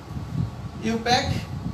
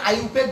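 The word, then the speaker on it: IUPAC: ইউপ্যাক কেন কেউ এটাকে আইউপ্যাক বলে? আসলে আইউপ্যাক না, কারণ এটা জার্মানি ভাষায় এই আই এর উচ্চারণটা হয় না, কেমন? এটা ইউপেকই বলে। যাই হোক, এটা আইউপেক বলতে পারে, ইউপেক বলে কোনো সমস্যা নাই।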